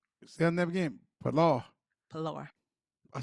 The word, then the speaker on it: Pilar: Pilar.